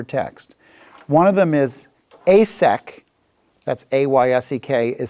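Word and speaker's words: Esek: One of them is asek, that's A-Y-S-E-K, is spelled E-S-E-K.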